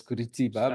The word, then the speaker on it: Curitiba: We didn't know the pronunciation that it was Curitiba, but Starting it with was that.